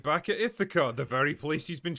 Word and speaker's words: Ithaca: can imagine, they're getting a bit impatient after Ithaca. It's pronounced Ithaca.